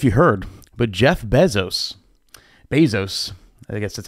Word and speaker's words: Bezos: don't know if you heard but Jeff Bezos Bezos I guess that's how you say it right